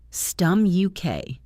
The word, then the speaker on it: stomach: The CH in English is a Latin spelling of a Greek K sound. You can see this pattern in many scientific and medical words that came through Greek. Stom-uk.